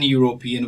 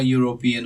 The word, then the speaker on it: European: we don't say c is an european we say she is all european or c is a european so pay particular attention to the sound there's five kind of